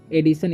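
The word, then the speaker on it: edition: एडिशन, इसे पढ़ते हैं हम लोग एडिशन, सॉरी एडिशन, एडिशन कैसे, क्योंकि जब भी TIO है ना साथ में तो उसका उच्चारण सौ हो जाता है, एडिशन।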